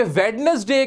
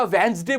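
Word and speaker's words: Wednesday: कि वेडनेसडे की जगह वेंसडे बोलने की आदत होनी चाहिए। डिटरमाइन की जगह डिटरमिन बोला मैंने, आई एम डिटरमिन्ड ऐसे बोला तो बात अलग हुई।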